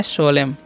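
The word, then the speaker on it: solemn: पर क्या पढ़ना है सोमन पढ़ना है क्या पढ़ना है सोलम पना स सोलम पढ़ना है क्या पढ़ना है सोलम ठीक है तो यहां पर आपको क्या पढ़ना है सोलम पढ़ना है और एन साइलेंट है तो इसका भी आपको ध्यान रखना है जी तो सोलम मतलब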